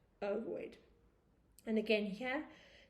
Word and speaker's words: ovoid: And ovoid shape is spelt similar to avoid, except with an O. So instead of saying avoid, ovoid.